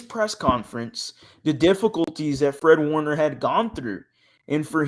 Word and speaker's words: Fred Warner: Fred Wagner. Fred Wagner? Did I say it right? Yeah. Fred Wagner? I feel like I'm saying that wrong. Fred Warner.